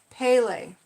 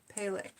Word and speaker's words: Pele: Pronounced Pele. Thank you, Michelle Knoll. I appreciate that. Pele.